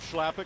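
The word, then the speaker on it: Chlapík: a member of charlottetown i asked philip schlappick who's from the czech republic how to pronounce your last name and he said you will pronounce it schlappick i said no how do you say it the czech republic he said something i said schlappick it is yeah wonderful player i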